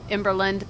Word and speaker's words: Emberland: And I don't know, it's just kind of rolled off Emberland, but then some people think we're saying in Berlin, you know.